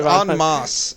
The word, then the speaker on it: en masse: Yeah, if you did that en masse, which is the correct way to pronounce it, Mike.